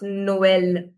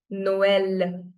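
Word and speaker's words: Noël: Now when I put trema on the second of the two wowels I need to emphasize that vowel as well. So now the pronunciation becomes Noel. Noel. Are you understanding? So we are giving emphasis to O and E with equal fur.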